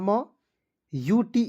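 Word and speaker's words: mute: पर ध्यान से देखेंगे एम यू टीई क्या पढ़ेंगे तो एम से आधा म यूटी ई का उच्चारण दोस्तों यूट के रूप में करेंगे तो दोस्तों इसे क्या पढ़ेंगे म्यूट ठीक है उसके बाद दोस्तों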